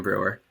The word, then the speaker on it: Bruwer: Uh and I'm joined by the lovely Brewer.